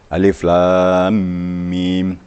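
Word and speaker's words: الم: Jadi alif lam mim. Jadi panjangnya 3 alif.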